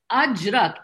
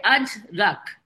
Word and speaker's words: Ajrak: Ajrak, A-J, let's say in Hindi we say Ajrak.